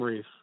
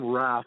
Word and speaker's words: Rath: Shane, how do you say his last name? It's Tom. Say that last name for me. Tom Rath, I believe. It's R-A-T-H.